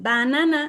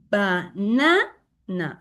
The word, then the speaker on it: banana: Uh again always when this is or we can say that it's not stressed and also banana this is not the correct pronunciation banana. No this is banana.